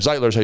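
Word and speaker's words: Zeitler: zitler zitler zitler zler zitler is how you say his name zitler zitler he's a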